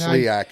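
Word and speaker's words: SLIAC: of long bus rides okay playing in that slak conference you know our closest road opponent 4 and a half hours away and only team from Kentucky and the is it the slak is that Sak is how they say it okay only team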